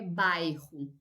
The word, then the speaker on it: bairro: é sério sim bairro cuidado com a pronúncia o bairro em espanhol esse a letra i em a vogal está depois do duplo r mas não português é bairro e o duplo r lembrem que é uma pronúncia como se fosse um j do espanhol um pouquinho mais forte neste caso o bairro